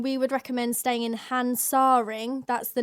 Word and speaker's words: Hansaring: going to Cologne we would recommend staying in hansaring that's the name of the tube and it's spelled h a n s a r i n g hansaring yeah it just see we always seem